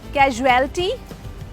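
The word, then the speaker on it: casualty: नाउ the spelling of the word is सी एस यू ए एल टी वाई। कैजुअल्टी कैजुअल्टी कैजुअल्टी मेरा एक friend है जिसे पिछले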